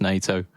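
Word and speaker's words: nyatoh: I know it's spelled Nyato, but it's pronounced NATO.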